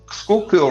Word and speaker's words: Schuylkill: Scooterville River? Schuylkill River.